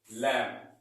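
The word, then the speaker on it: limb: यहाँ पर B silent होता है, तो इसको सही प्रोनाउंसिएशन में क्या बोलेंगे? लैम। ठीक है? क्या बोलेंगे हम? लैम।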